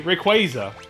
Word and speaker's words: Rayquaza: you know it's like Rayquaza is actually Rayquaza is the official is the official correct way to pronounce it that's something you know